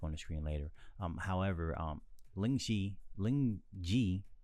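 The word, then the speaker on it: lingzhi: However, Lingji, I'm just going to say Lingji. I prefer to say Lingqi, but Lingqi is based from China. That saying is from China, and Reishi is actually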